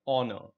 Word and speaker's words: honor: Look at the next word, honor. Do we say honor? No, we say honor. Honor. Yeah. So again, the H is silent.